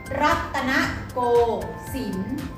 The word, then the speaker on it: รัตนโกสินทร์: ถูก ต้อง ค่ะ อ่าน ว่า รัตน โฟม สิงห์ รัตนโกสินทร์ อีก หนึ่ง ตัว อย่าง นะ คะ อีก หนึ่ง